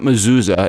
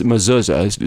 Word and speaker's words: mezuzah: I mean, it's like if I wanted to have, and I'm Jewish, so, and it's not mezuzah, it's mezuzah, Strick. I mean, that would be my pronunciation of it.